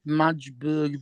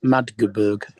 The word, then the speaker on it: Magdeburg: Hey, David, did you call it Madgeburg because it was spelled Madge? Yes. Yeah, it's Magdeburg. They actually pronounce it all rather than the way we would do it.